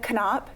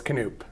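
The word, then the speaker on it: Knoop: No, it's Canoop. Canoe. Yeah. Sorry about that. Did I do two O's or did I do? I don't know. What did I do? You just got to pronounce it the old German way.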